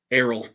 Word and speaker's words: Errol: Errol. That is correct for 2 points. Great pronunciation.